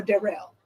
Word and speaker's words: Darrel: Do you pronounce it Darrel or Darrel? Darrel. Thank you. So I've been saying it right.